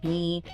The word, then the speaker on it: knee: Your notes give some classic examples, ones learners often stumble over, like the silent K at the start of words like knife, no, knee.